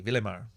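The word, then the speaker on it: Ville-Émard: Oh no, they don't pronounce the D. Villemard.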